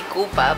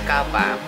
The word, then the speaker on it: Kappa: Yeah, because before I used to say Kupa, but then I realized it's Kappa.